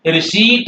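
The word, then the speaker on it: receipt: रिसीप्ट क्या होता है रिसीप्ट है प आपको नहीं बोलना था लेकिन धड़लंग से 99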